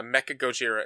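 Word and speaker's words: メカゴジラ: is what I looked up and it's uh Mecha Gojira is how you pronounce it it's me k a g o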